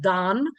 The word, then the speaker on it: Dan: He he made fun of my Midwest accent, calling him Dan Swano. He's like, "That's not." And he goes, "Dan." And I'm like, "I'm sorry. Tell me how to say it." And he's like, "Don."